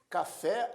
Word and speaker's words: café: Café, a última sílaba é a mais forte, fé, portanto, é uma palavra oxítona.